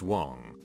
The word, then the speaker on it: Wang: I, a Caucasian, was dating an Asian girl with the last name of Wang, pronounced Wong, who had a penchant for starting drama and arguments.